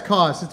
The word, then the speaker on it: Cauz: Cauz? Yeah, it's Cauz, which is actually Italian. It's pronounced Yeah, Cauz, yeah.